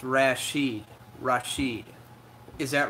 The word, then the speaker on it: Rashid: Oh, it's pronounced Rashid.